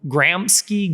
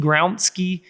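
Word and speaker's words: Gramsci: and i think it's antonio uh gramski gronsky is how you say his last name um the prison notebook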